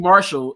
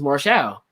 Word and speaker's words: Marshall: they found one ahead of this and correctly pronounced the qc martial's last name okay he is not qt marshall is qt marshmallow what in the world so